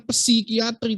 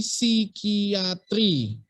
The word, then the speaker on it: psikiatri: atau bacanya nemoni sama nanti psikiatri tulisannya kan psikiatri bacanya bukan psikiatri tapi si kiatri sama kayak psikologi bacanya